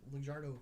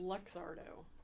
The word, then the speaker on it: Luxardo: in the 1820s by in italy by the lugardo family and i'm probably mispronouncing that i think it's luxardo yeah but yeah like zardo all i know